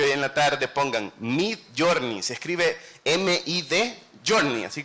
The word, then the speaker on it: Midjourney: Si ustedes son arquitectos, les invito que hoy en la tarde pongan Midjourney, se escribe M-I-D, Journey, así como lo que escribí.